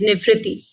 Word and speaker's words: Nivriti: Again, Nivriti, if you could start us off just quickly, and apologies if I mispronounced your first name. No problem. My name is Nivrati. So I was pretty close.